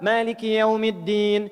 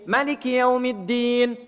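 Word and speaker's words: مالك يوم الدين: Masuk Maliki Yaumiddin ada 2. Maliki Yaumiddin. Maliki Yaumiddin. Panjang dan pendek.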